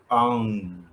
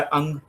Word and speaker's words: आं: जो बीज मंत्र है वो है आंग। आ और ऊपर चंद्रबिंदु। एक तो होता है अंग अंग नहीं है चंद्र बिंदु है तो इसका जब आप उच्चारण करेंगे तो उसके बाद में जो आफ्टर टोन आएगी वो इस तरह से आनी चाहिए जिसमें नेजल टच हो तो आज्ञा चक्र पर